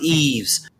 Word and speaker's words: Yves: yeah everyone is his is yves it's actually pronounced eves right but but you can pronounce wise eaves as well um so so yeah but i'm i'm a stupid american so he's his name is eves guillermo yeah i thought you're gonna say galermo